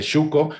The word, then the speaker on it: Xuco: Dice Xuco, como es voz indígena, pronuncia en la che suave, como en francés, lo que nos demuestra